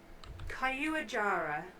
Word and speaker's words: Caiuajara: Caillou Jara.